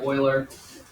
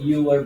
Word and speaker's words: Euler: And the technical name for it is called Euler's number. That's the guy's name here, Leonard Euler. Looks kind of like Euler, but it's pronounced Euler.